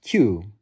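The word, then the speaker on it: 九: This is because the number three is pronounced son and the number nine is pronounced Q.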